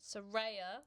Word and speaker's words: Saraya: Saraya.